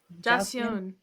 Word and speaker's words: Joseon: Joseon.